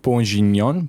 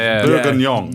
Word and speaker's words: bourguignon: I had beef bourguignon. Bourguignon? How do you say that? Bourguignon? Moff, please help us on that. It's a red wine beef. Bourguignon.